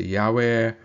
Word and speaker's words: Yahweh: it's the tetragrammaton yard hey Fav he it's pronounced so you'll hear me say Yahweh and so some translations you may see it